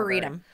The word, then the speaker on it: arboretum: Arboretum.